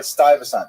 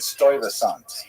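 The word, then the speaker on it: Stuyvesant: Stasant. So apparently in my ignorance I said Stoant which is I I I you know I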